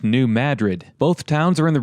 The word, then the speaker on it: New Madrid: is called Caruthersville and the second town is pronounced New Madrid both towns are in the region known as